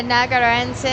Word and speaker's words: Narragansett: Yeah, Narragansett.